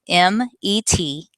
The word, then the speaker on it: metastatic: The word is spelled METASTATIC, metastatic.